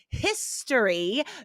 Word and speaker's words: history: But again, hotel and history do break those because we do say the H.